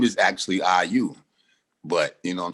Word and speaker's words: I.U.: So I'll simplify to say, no, I dot, you dot, IU.